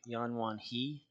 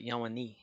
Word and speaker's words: Yanwani: And then when you like the Yanwani Kijil Sawamnan, you want to like say it like Yanwan He Kijil Sawamnan, but it's like Yanwani, like an N-I sound instead of a H-I.